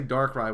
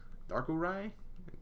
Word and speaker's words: Darkurai: I want to say Darkrai, but that's not Darkrai. I mean, like, your picture is Darkrai, but like the name is not Darkrai. Darkurai TV.